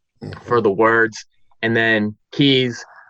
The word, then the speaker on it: Kues: the words and then keys my last name is K u es but it's pronounced key so trying to help